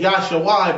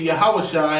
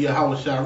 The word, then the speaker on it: Yahusha: And again, where it says Jesus, they translated from Greek, and it said Yahshua, but we know it to be Yahusha, and I'm going to prove that they know it to be Yahusha.